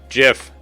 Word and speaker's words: GIF: GIF. It's actually, like, according to the creator, it's pronounced GIF. Shh, shh, shh, shh. Not GIF.